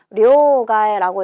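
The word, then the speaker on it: 両替: 료가에라고 읽어요. 자, 요거 우리나라 음독으로 읽어보면 양채? 말이 되나요?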